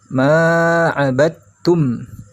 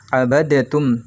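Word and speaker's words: عَبَدْتُّمْ: Dal yang bersukun ini dianggap tidak ada ya. Dimasukkan huruf ba-nya ke huruf ta. Ma 'abadtum. Seperti itu ya. Tidak dibaca pantul bacanya. Abadatum. Salah kalau seperti itu.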